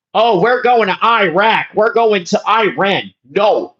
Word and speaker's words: Iraq: see people pronounce, "Oh, Iraq. Iraq." No, it's not Iraq, you uncultured American. It is pronounced Iraq. It is pronounced Iraq. Say it with me. Iraq, okay? Not Iraq. "Oh, we're going to Iraq.